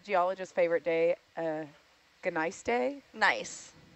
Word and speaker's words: gneiss: Nice. Oh, so the G is silent? Yeah, the G is silent. It's nice. It's a type of rock.